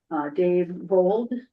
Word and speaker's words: Dave Vold: Let me make the motion if people don't have that at their beck and call, but this is a nomination for Dave Vold. I'm pronouncing that right?